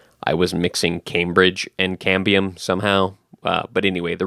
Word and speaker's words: cambium: of a tree and I kept calling it cambrium but the actual word is cambium I don't know why my brain kept saying cambrium I think I was mixing Cambridge and cambium somehow uh but anyway